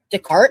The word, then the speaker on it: Descartes: Descartes. That's how you say that. That's how you pronounce it. Yeah. Descartes. Oh, so the S is silent.